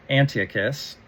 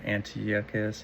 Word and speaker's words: Antiochus: a second to actually look up how to pronounce it. It's pronounced uh Antiochus um of Rome. Um uh Antiochus. Yeah, that sounds about right. I probably wouldn't have said it exactly like that, but it's pretty close.